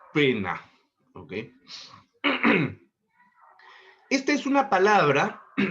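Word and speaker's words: poena: Del latín pena. Se escribe p o e n a, ¿no? Y se pronuncia pena.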